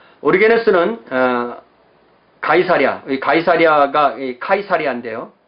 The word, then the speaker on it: 가이사랴: 이후의 이야기를 보면 이 가이사랴와 예루살렘 사이에 왔다 갔다 하는 이야기들이 많잖아요. 자, 그 가이사랴입니다. 이 가이사랴를 영어로 세서리아라고 발음하거든요. 성경에서는 가이사랴 이렇게 되어 있고요. 영어식으로 원래 원어식으로 읽으면 가이사랴입니다.